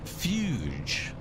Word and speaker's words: Fuge: And I'm going to pronounce it few like Hugh, but with an F going forward.